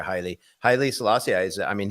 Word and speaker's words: Haile: It's like the English name Haley, but they pronounce it in Africa Haile.